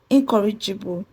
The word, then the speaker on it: incorrigible: So, incorrigible will be stressed on the CO, which will be stressed on CO.